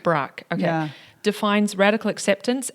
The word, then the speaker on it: Brach: Tara Brach. Brach, okay.